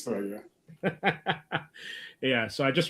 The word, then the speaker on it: Thragg: It's Thragg, yeah.